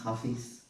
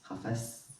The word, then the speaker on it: Hafez: book and the person's hafiz hafez pronounced different ways he lived in the